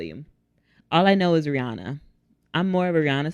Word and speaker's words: Rihanna: It is Rihanna, but people do what they do.